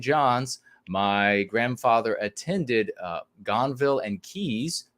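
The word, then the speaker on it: Gonville and Caius: was at st john's my grandfather attended uh gonville and keys not sure if i pronounced that right you certainly did well done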